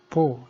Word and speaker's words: po: This stress mark is called Mayumi, which means the word is pronounced low, but the throat is closed at the end of the word. This means that when po is pronounced, you should close your throat, except when the po word is in the middle of the sentence, in which case no closure of the throat is done.